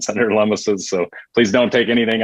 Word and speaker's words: Lummis: You pronounce it Lummis, not Loomis. Lummis like hummus. So check that out.